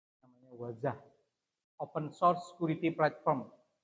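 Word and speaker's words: Wazuh: Ada 100 keamanan tidak sesuai dan perlu diperbaiki dan not namanya Wazah open source security platform bacanya wazah.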